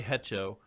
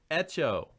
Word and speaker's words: Hecho: Spanish, the H is always silent. Okay. And if you say Hecho, I'm going to get up and walk out of here. If you say it again, Hecho. Echo.